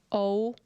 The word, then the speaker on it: og: Og, and again when it ends with G, also just drop the G.